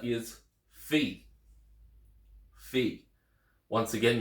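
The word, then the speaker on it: φι: Epsilon next letter is Fe Fe once again you might be used to hearing it as fi but it's Fe the next letter is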